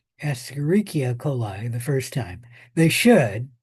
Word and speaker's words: Escherichia coli: coli rather than say Escherichia coli the first time. They should, they don't always, but they should spell it out the first time and then abbreviate it.